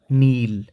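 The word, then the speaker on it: kneel: घुटनों के बल बैठना नील, यहाँ पे के साइलेंट है, यहाँ से पढ़ना शुरू करेंगे नील, आना कम, हो जाना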